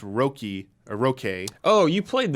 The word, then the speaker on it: Röki: It's pronounced Röki or Röki.